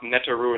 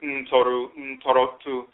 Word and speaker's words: Ntorotu: You have the various Abosom, Orisha, Vodou, Ntoro, divinities, mispronounced Neteru and Netetu, but Ntorotu.